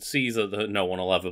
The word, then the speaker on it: Caesar: Caesar gets mentioned and I pronounced it Julius Kaiser which is the correct pronunciation and every other comment